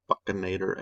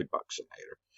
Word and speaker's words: buccinator: from test one uh then we have the buccinator i've also heard it called buccanator and bukinator i say buccinator um that one compresses